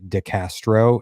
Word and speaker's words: Castro: We're here today with Melissa Castro. Is that how you pronounce it?